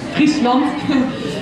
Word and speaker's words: Friesland: That's how you pronounce it, Friesland.